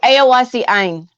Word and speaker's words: Eoacci Ein: Oh, Eoacci Ein.